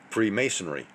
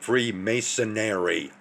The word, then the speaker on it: Freemasonry: Now, within this video that I'm going to provide a link towards going to speak about Freemasonry. No, it's not Freemasonary like this 3D glass wearing person keeps pronouncing it as being.